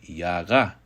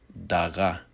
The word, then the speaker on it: yaga: Again, just like Yaduana, this word very much is often pronounced with a Y, yaga. But it may be pronounced with a D, as in daga.